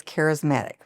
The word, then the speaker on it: Kareismatic: The name of the company is Kareismatic, but it's spelled very interestingly. My name is Karen. And so it's Kareismatic. So it's a play on my name as well as a play on charismatic is attracting loyal followers,